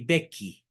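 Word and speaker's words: Becchi: el 16 de agosto de 815 en I bequi se escribe I que significa el bequio se escribe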